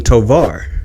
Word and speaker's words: Tovar: Is that how you pronounce your last name? Tovar. Yeah. Tovar.